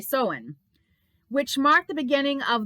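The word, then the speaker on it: Samhain: a celtic winter festival called shaman pronounced so in sorry so in which marked the beginning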